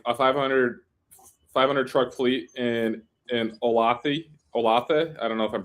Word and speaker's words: Olathe: I mean, I visited Trans Am, which is like a 500 truck fleet in Olathe. I don't know if I'm pronouncing it correctly. Kansas. I think it's Olathe. Olathe, yeah, there you go.